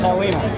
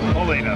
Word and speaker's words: Paullina: Paulina. Paulina, not Paul.